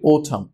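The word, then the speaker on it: autumn: এখানে উচ্চারণটা খেয়াল করি, ওথাম, এটাকে অনেকে অটাম বলে, অটাম না, ওথাম।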